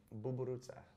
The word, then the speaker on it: buburuța: You say it like buburuța. So if you ever wanted to know how to say ladybug in Romanian, it's buburuța.